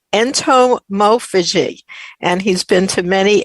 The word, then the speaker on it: entomophagy: does that word entomophagy mean well it's generally pronounced entomophagy and it basically just means people of the